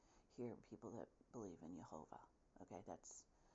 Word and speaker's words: Jehovah: I need to hear people that believe in Jehovah, okay, that's how you say it, the Israelites, that's how they said it.